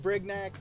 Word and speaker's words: Brignac: In the 2-hole, number 8, Hudson Brignac. Coach, am I pronouncing that correctly? Is it Brignac? Sweet, I love it, thank you.